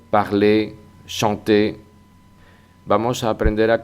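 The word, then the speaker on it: parler: igual que el infinitivo parle que acaba en r en el que esa r tampoco se pronuncia y en nosotros parlón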